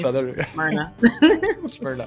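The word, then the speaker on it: Smyrna: that spelling of that City SM I say smrna some people do say SM yeah but I say I think it's the southern in me smna okay that's I'll note that for the future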